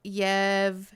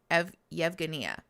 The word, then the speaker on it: Yevgenia: It's pronounced more like Yevgenia. G is in gold. Yevgenia.